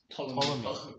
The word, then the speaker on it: Ptolemy: Ptolemy. Because the P is silent.